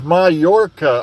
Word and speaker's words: Mallorca: It's Mallorca. Okay, I had no idea. Like I said, I always butcher pronunciations.